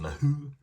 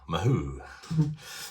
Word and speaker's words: Mahou: It's called, I think it's pronounced Mahou, something like that, and it's a Spanish lager type beer.